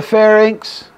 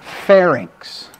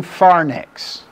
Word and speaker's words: pharynx: are structures of your pharynx now if you're in my lectures you've already heard this do not let me catch you people ever ever ever saying pharnix look at where the